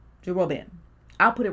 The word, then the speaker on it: Jeroboam: I could be saying his name wrong, but his name is Jeroboam. Jeroboam?